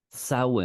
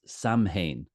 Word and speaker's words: Samhain: Gaelic the the Celtic Traditions is called sa sa is how we pronounce it in the Irish language the old